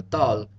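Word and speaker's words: ذال: Dal is a D sound, where thal is like a TH sound pronounced more like a D. Dal, thal, dal, thal, dal, thal.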